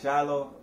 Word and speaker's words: Shiloh: They spell it S-H-I-L-O-H. No, but I don't like shy. It's spelled like shy.